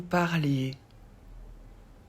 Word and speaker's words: parliez: Vous parliez. Pour vous, on ajoute I-E-Z. On prononce toujours le EZ et on fait toujours